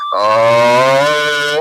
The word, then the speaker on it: ओम: तीन से पांच बार ओम का उच्चारण आ, उ और मा के साथ तीनों कररेक्टर का उच्चारण आना चाहिए।